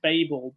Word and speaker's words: Babel: the same book yes I think we pronounce it Babel but um but obviously it's where we derive the word Babble from but but yeah I